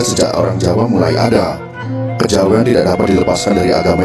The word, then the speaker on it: kejawen: Kejawen adalah kata bentukan yang berasal dari kata kejawian. Dengan keluasan lidah orang Jawa diucapkan menjadi kejawen.